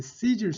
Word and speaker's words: Caesar: 자, 황제 아구스토인데 황제를 카이사라고 하는데 이제 Caesar, 영어 발음은 Caesar죠.